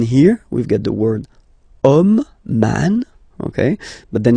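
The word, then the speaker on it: homme: we've got the word om man okay but then it start with Ash as in French Ash is not pronounced so the first sound that we hear is O Okay and then it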